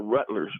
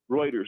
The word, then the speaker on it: Reuters: she had on an individual that worked for rutlers Rutgers right um writers writers as that's pronounced I think yes Reuters there you go exactly and he was saying